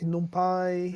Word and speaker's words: NumPy: I think it's like numpai. Numpai. Yeah, definitely numpai.